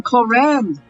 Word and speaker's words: Clorinde: That's how we say her name, Clorinde. I'm excited to meet her. Raiden Shogun, Kujosara, fusion character looking. Well, that's Childe for ya. Paimon feels like we heard that name somewhere before. We did? Clorinde.